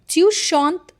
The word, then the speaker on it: chante: Because if I just talk about the first one that is shant letter uh is a silent letter here.